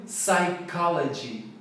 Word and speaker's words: psychology: Fala comigo, psychology, psychology, sílaba tônica é o K.